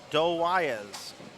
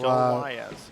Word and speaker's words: Doe Wyez: Doe Wyez. The W is silent. He bowls in our Kansas City tournaments here on 33 and 34. Thank you for that. So Doe Wyez.